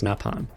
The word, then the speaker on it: Nopon: Prone, and in the aftermath stumble upon a Nopon disguised as a potato. Now, this game, since it was dubbed by NOA instead of NOE, we get a different pronunciation for Nopon versus Napon.